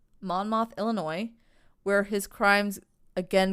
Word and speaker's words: Monmouth: So he bounces around Chicago and ends up in his hometown of, I believe it's pronounced Monmouth. Monmouth, Illinois, where his crimes again get kicked up a notch.